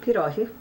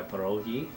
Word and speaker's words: pierogi: know them in restaurants by pierogi Yeah, the Pierogies. Polish people have the hard G.